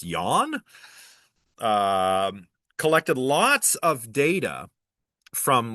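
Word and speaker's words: Jahn: Similarly, at the Princeton Engineering Anomalies Research Lab, or PAIR for short, some researchers led by Robert Yawn, I think that's pronounced Yawn, collected lots of data from lots and lots of different experiments using quantum mechanical random number generators.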